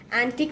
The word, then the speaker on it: antique: Antique means ancient. What does it mean? Ancient. And it's antique. The pronunciation of this word is antique.